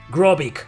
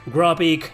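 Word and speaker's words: Grobyc: a to greco yeah gropic gropik you know it's a cyborg pronounced backwards gropic this guy is one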